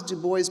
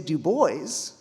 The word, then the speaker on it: Du Bois: has Du Bois been making these inroads?